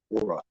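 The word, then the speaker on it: Hora: John Ora. Get that name, John Ora. It's actually pronounced Ora.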